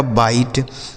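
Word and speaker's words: bite: ऐसा इसको नहीं पढ़ना कि सीज पढ़ देंगे, सीज पढ़ देंगे या सीजे पढ़ देंगे, गलत उच्चारण हो जाएगा। ठीक है, बी आई टी ई, इसे पढ़ा जाएगा बाइट, बी आई टी ई बाइट।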